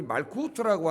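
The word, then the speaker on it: מלכות: 이 나라라는 개념은 히브리 말 이제 말쿠트라고 하는, 말구두. 추워서 여러분 말구두 많이 신고 다니시잖아요. 발음이 비슷해. 말쿠트.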